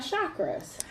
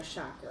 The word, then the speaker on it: chakra: Okay, because some people, because I have been corrected on many occasions, who pronounce it chakras, like it's supposed to be pronounced. Chakra, whatever that is. We're not pronouncing it that way, so please don't judge us. We do understand, but I think for the majority of the people that are listening to this podcast, it is chakras.